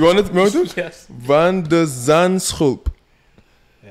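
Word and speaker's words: van de Zandschulp: Can you pronounce the name again? You want it? Want it? Yes. Van der Zandschulp.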